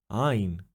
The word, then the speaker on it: Ayin: A word example is ain exactly like the letter's name. If you find this consonant hard to pronounce, you can pronounce al if instead like soin. Ain. It is not technically the correct pronunciation, but today the correct